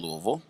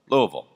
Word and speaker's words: Louisville: co-founded D catalyst the first business accelerator in Louisville so it should not be any surprise that